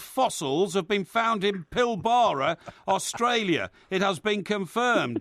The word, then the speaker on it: Pilbara: um in this fabulous rock formation in the pilbara as we pronounce it yes and um it but all